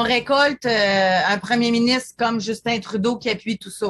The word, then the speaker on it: Justin: un premier ministre comme Justin Trudeau qui appuie tout ça aussi je le prononce en français Justine Justin en français son prénom mais c'est quand même